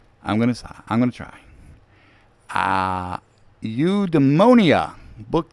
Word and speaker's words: Eudaimonia: Look, he gives a definition and a pronunciation key. Eudaimonia.